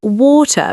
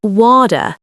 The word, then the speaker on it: water: Even if you still pronounce water wrong, it's water, Brian, not water.